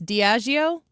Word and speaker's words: Diageo: Diageo?